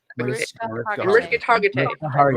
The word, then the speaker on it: Mariska Hargitay: Mariska Hargitay. Remember it like Merry Christmas, Mariska Hargitay.